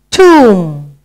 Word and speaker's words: tomb: Tomb.